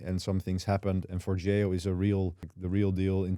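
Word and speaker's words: Forgejo: For that, I use Forgeo. That is apparently the right pronunciation of it.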